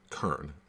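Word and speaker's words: cairn: study for today but that's c a i r n but it's pronounced kern c-a-i-r-n essentially what that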